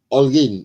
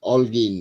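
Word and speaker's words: Holguín: will draw hin versus Olin Olin Alin because you don't pronounce the h or I don't think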